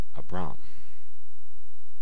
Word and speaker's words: Abram: Abram from Genesis 12 two- syllable word both of these syllables are closed AB Bram and the accent is on the second syllable but now let's take